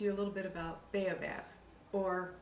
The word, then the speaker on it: Baobab: a little bit about Baobab or I think the the correct pronunciation is Baba Bob there's a tree that